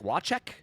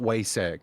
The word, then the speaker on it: Wacek: I think you're supposed to pronounce it like Wacek. He's Polish. Oh, I think it's like not Wasek. Yeah, I say Wasek because I'm a dirty